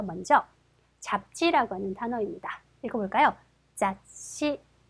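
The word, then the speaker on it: 雑誌: 자씨, 세 박자 자씨입니다. 써볼게요. 자, 그렇죠. 자, 이렇게 해서 자가 될 거고요. 뒤에 시가 왔네요. 그러면 그렇죠. 시 발음이 작은 츠 바로 앞 글자에 가서 받침이 되겠죠.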